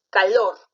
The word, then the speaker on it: calor: es aguda un plato calor calor calor ser aguda muy bien y segura subrayó y